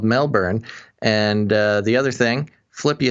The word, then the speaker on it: Melbourne: official uh mentions basil we don't pronounce the o in melbourne it's more like melbourne so two things it's called melbourne and the other thing